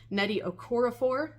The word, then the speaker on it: Nnedi Okorafor: say your name right Netty okoror um I always want to add an extra syllable in there and that is something I need to work on um so I want